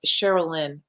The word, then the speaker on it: Sherilyn: I I always say your name wrong. It's Sherilyn, which is such a pretty name.